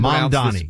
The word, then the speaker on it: Mamdani: Like I can Mandani.